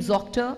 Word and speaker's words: Zoctor: Well, when we gave the name Zoctor, I thought it was fairly intuitive. Zoctor rhymes with doctor. So Zoctor, Zoctor, doctor, doctor. But somewhere this has not